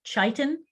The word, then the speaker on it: chitin: about animals and fungi carbohydrate that is structural is called chitin sometimes pronounced chaitan titan is the exoskeleton